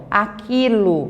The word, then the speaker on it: aquilo: Aquilo, você só pronuncia o som do quê?